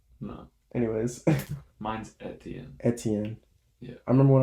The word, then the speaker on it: Etienne: It is your boy G, alongside with me Hunter Eteen Bach, What? aka, is that how you say it? No. How do you say it? Etienne. Etienne.